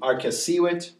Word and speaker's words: arcessīvit: Here's another one, arcessīvit. Second to last syllable, it's a long I, so it would take the accent.